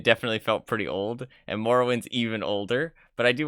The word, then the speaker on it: Morrowind: I spelled it right it's moral wind it's not more wind Morrowind um then there's